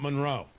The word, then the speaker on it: Monroe: I'm being told that I pronounce Monroe County wrong, and I should be pronouncing it Monroe. Monroe, not Monroe.